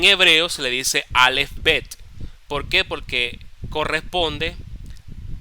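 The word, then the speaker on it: בית: en en castellano okay en griego se le dice beta y en hebreo se le dice bet Okay bet así como como si fuera un como si fuera eh una cabrita bet ya fíjense que tiene eh un acento en la e acá bet Entonces ese es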